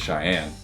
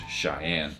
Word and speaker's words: Shayan: His name is Cheyenne. Oh, interesting. It's Shayan, and so I'm like, okay, well, it's spelled a little differently, but yeah, his name is Cheyenne.